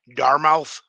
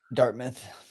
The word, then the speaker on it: Dartmouth: Fix I mean I'll say the kids name wrong as well but Dart Matteas at Darmmouth Dartmouth. How do you say it? Dartmouth.